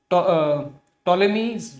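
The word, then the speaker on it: Ptolemy: Next है टॉलेमीज geography. टॉलेमी P silent है, ठीक है।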